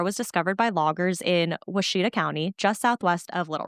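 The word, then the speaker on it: Ouachita: And I just want to say, Washita, I looked up the pronunciation. That is not how it's spelt. This town starts with an O.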